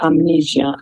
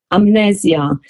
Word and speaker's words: Amnesia: It was called Amnesia. Yeah. But it's in Italian, different pronunciation. It's not the word amnesia. Is amnesia. It's like you put the accent in a different vocal.